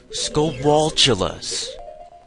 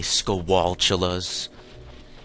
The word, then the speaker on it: Skulltula: Some people pronounce the T at the end of skulltula or skulltula like as an actual T and not like its CH sound. I don't know where I got that. I always pronounce it like that. Maybe it's because it's like spatula.